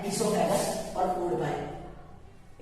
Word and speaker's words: oesophagus: है, ये हमारा है इसोफेगस और फूड पाइप। इसकी स्पेलिंग OESOPHAGUS ओइसोफेगस होती है, पर इसे स्पेल इसोफेगस कहा जाता है क्योंकि वो साइलेंट होता है।